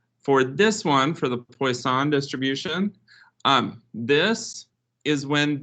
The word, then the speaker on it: Poisson: next one is called poisson distribution all right what's wrong with that that's how you say it well it's one of the things that i remember from stats it is poisson i don't know why